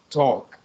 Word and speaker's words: talk: is a blood uh pronounce the r the a sorry like an o and delete the l so we don't say type but we said talk this talk okay okay exactly without the l and the uh the